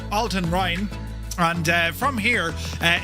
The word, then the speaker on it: Altenrhein: So we're going to fly out of uh Altonheine. No, Alton Rin.